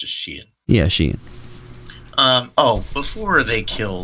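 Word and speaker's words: Xi'an: That's how it's pronounced, just Sheehan.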